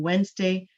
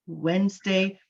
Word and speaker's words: Wednesday: town called Walden on Wednesday, July 27th. Remember, with Wednesday, you don't want to say the D at all. It's just there to confuse you.